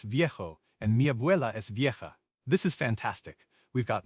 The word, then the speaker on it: vieja: For old, for a person, we typically use viejo for masculine, V-I-E-J-O, and vieja for feminine, V-I-E-J-A. Okay, so mi abuelo es viejo and mi abuela es vieja.